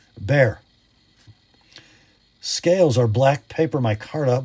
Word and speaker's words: Bexar: It is a bear. Somebody from Texas told me that's how they say it, so I'm going to keep saying it until somebody tells me it's wrong. And then you can all laugh because I believed it. Not Bexar, bear.